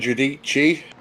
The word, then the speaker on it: Giudici: So this is Dan Giudici. Giudici. I'm never going to remember to say it like that, you know. Guadici.